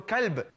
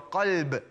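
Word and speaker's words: قلب: What he meant was, pray with your qalb, brothers. Pray with your qalb. Qalb is the heart. And as for kalb, that is the dog.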